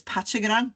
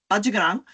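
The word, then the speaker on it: Patyegarang: Now, you might know her as Pachagarang, but it's not how we pronounce her name. Bajagarang was a Gamaragal girl, just like Barangaroo, and she and Dawes recorded language.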